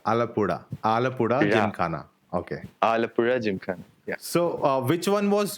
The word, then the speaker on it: Alappuzha Gymkhana: So, uh let me know if I'm pronouncing it right. Alapura Jim Kana. No. Oh, it's very hard to pronounce for non-mali people. Alapura. Alapura. Alapura Jim Kana. Okay. Alapura Jim Khana.